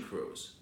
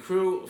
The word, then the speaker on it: Krewe: parades all together then there's all these marching crews okay which also have names and there's all